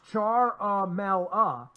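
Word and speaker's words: Ciaramella: whistleblower he says further charmella pronounce char mal ah left his National Security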